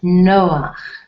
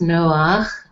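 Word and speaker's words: נֹחַ: Noah, but it's pronounced Noach. You've got the ch sound in the name in Hebrew.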